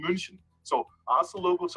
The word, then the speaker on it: München: I'm not in Munich, but in München.